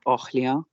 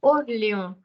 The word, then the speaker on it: Orléans: Orléans. Orléans. Orléans. Okay. La prononciation, c'est Orléans. Yes, AN is on, okay, which will come a little later.